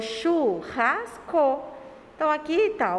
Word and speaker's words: churrasco: Churrasco.